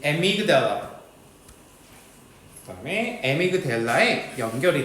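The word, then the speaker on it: amygdala: 하이퍼 많은 센시티비티 민감성 과민감성 오 아마이그 달라 여긴 편도체 편도체에 연결이 돼 있대 편도체 발음 한 번만 다시 볼까요? 기다려 봐요. 의학구나. 음. 에미그델라.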